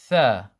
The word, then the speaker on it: ث: 3, the beginning of 3 is the same pronunciation as tha.